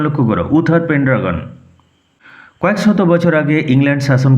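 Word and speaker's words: Uther Pendragon: উচ্চারণ লক্ষ্য করো। উথার পেন্ড্রাগন।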